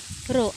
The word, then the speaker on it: rho: You should pronounce this as a rho, R-H-O, or rho is equal to m divided by volume, that is V2 minus V1 is our volume.